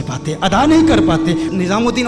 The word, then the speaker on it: نظام الدین: ادا نہیں کر پاتے۔ نظام الدین اولیاء رحمہ اللہ کی بارگاہ میں گیا تو وہاں کہتے ہیں نجام الدین اولیاء۔ ہندوستان بہت بڑا ہے،